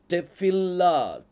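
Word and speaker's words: תְּפִלָּה: அப்புறம் கடைசில ஹே இருக்குது இப்ப பேக்குள்ள புள்ளி இருக்குதா இல்ல அப்ப இதை எப்படி உச்சரிப்பீங்க ஃபப் சவுண்ட் வரணும் அப்ப இதை உச்சரிக்கும் போது டெபில்லா டெபில் ஃபில் அந்த ஃபில் அப்படின்னு சொல்லி அந்த இல் வரணும் இல்லா அந்த லேமடுக்குள்ள புள்ளி இருக்கிறதுனால டப்ளிங் சவுண்ட் வரும் டெபில்ல்லா டெபில்லா டெபில்லா அப்படின்னா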